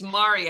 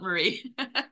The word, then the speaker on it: Mari: here it comes it's it's Mari actually not Marie oh I'm sorry yeah